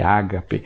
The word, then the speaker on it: ágape: onde vem aquela palavra agape, ágape, como a gente costuma pronunciar em português, né?